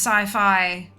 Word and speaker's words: sci-fi: I am aware that it's supposed to be pronounced sci-fi but it's not it's siffy uh all right let us go to the